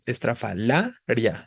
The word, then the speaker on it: estrafalaria: ya eso te indica estrafalaria la tónica es la penúltima lo que la vuelve grave termina en vocal y